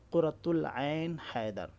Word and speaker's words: قرۃ العین حیدر: جائے گا، اس کے اوپر جو الف لام داخل ہوا پہلے وہ نہیں پڑھا جائے گا، قرۃ العین حیدر، ٹھیک ہے؟ ان کا نام تو سنا ہی ہوگا۔ تو اب یہاں دیکھیے عین کا تلفظ تو کیا جا رہا ہے، یہاں سے یہ عین کا تلفظ کیا جا رہا ہے لیکن الف اور لام کا تلفظ نہیں ہو رہا ہے، تو یہ ہوتا